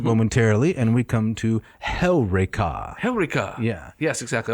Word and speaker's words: Heureka: Although most people would say Eureka. Eureka. They would put the emphasis on the penult. On the wrong syllable. That's right. Yes. It goes on Heureka.